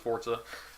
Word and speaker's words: Forza: airport's however I mean I guess it's technically pronounced Forza a game like Forza